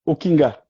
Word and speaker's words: Okinga: tudo bem Tudo ótimo como pronuncia o seu nome você pronunciou muito bem o kinga o kinga que lindo